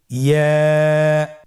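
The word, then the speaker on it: ياء: ইয়া উচ্চারিত হয় জিহ্বার মধ্যখান তার বরাবর উপরে তালুর সঙ্গে লাগিয়ে উচ্চারিত হয়। আমরা জিহ্বার মধ্যখানটাকে উপরে তালুর সঙ্গে লাগিয়ে উচ্চারণ করি, ইয়া।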